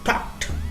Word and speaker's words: talked: এখন দেখো, আর টক ভার্বে যে পাস্ট পার্টিসিপল, এই উচ্চারণটা একটু খেয়াল করো, এটা হবে টকড, টকড, টকড, টকড, টকড, এইভাবে তোমরা টকড, এইভাবে তোমরা শব্দটাকে ভার্বটাকে উচ্চারণ করবে।